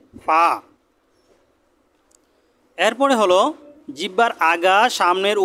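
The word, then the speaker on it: فاء: এবং নিচের ঠোঁটের পেট সামনের উপরে 2 দাঁতের আগার সাথে লাগিয়ে ফা।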